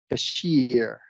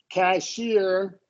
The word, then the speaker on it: cashier: Cashier. This one was real, same as career, right? The only difference is there's emphasis on the first. So career is a schwa. Cashier is secondary, primary.